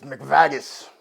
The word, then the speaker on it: McVaggis: about his adventures please welcome mcvagis it's mcvagis please pronounce my name right i apologize mr mcveggis